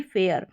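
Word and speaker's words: fare: अब यहाँ पर ये ई का उच्चारण नहीं है, अगर ये ई नहीं होता तो एफ ए आर जो है ये स्पेलिंग ही बदल जाती, इसका उच्चारण फार करके होता, फेयर करके नहीं होता।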